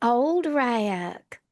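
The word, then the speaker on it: Uldrak: Where I'm from, it'd be old rack.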